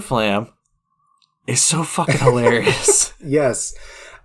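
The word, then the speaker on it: Fflam: But, I just wanted to mention that Fluter Flam's name is spelled F-F-L-E-W-D-D-U-R. That's Fluter, and Flam is F-F-L-A-M.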